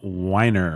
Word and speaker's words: Weiner: of the CIA by Tim weiner I'm gonna say because I reject the other pronunciation even if it is correct this guy is a